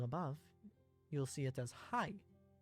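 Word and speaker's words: はい: This word sounds like hi or hi. However, remember how e sounds like e? The word hai is actually pronounced hai. Ha-i. But since Japanese is a language spoken at a rapid pace, the syllables tend to merge.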